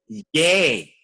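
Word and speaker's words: je: Ye.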